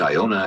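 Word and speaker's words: יונה: name as the prophet jonah for what is pronounced iona in hebrew and is called columba in latin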